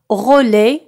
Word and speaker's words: roller: إذن تكتب roller avec ER à la fin لكن تنطق roller.